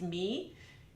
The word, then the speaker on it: mi: Now these syllables are Italian, so M-I is pronounced me, and then M-E is pronounced May, like the month of May.